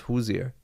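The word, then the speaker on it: Hozier: pronounced Hoosier. Who's Yeah. Hosier. Yeah. Like knock knock. Who's there? No, Hoosier. You know that joke? No. Yeah, that's how you pronounce it.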